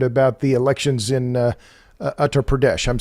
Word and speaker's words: Uttar Pradesh: in business standard about the elections in uh uttar pradesh i'm saying that correctly i hope um yeah it's uttar pradesh yes okay not the most stated okay well